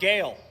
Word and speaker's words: Gehl: We're talking about Gale. Some of y'all didn't even know how to pronounce that.